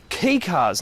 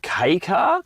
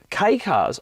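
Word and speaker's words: kei car: And these are both key cars. Now, if you don't know what a key car is, basically they're a tiny wee little car made for the Japanese domestic market.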